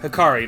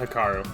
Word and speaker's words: Hikari: hello it's yuki and hikaru right hikari not hikaru right hello you how you